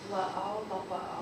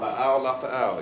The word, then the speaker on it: La'au lapa'au: La'au lapa'au. La'au lapa'au, exactly.